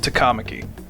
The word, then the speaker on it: Takamaki: you looking for a ride home it's actually pronounced takamaki ah right takamaki i'll try and remember things